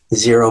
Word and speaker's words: xero-: Zero means dry, and that X is pronounced as a Z, so zero.